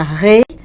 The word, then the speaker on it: rei: camin Poxa entendeu então isso era um indicativo de que ele era pronunciado Rei dobrado bem forte né é o er dobrado pedi pro Berto colocar